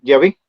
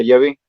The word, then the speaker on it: Yahvé: en general de hecho el más correcto es llave así todavía lo pronuncian los samaritanos actualmente los judíos perdieron la pronunciación pero lo más probable de acuerdo a ciertos estudios más recientes Es que la palabra correcta sea llave de hecho pues no tiene